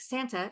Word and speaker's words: Santa: She would call, okay, so I have an aunt, her name is Santa, spelled like Santa, Santa. But because it's Hispanic, It's Santa.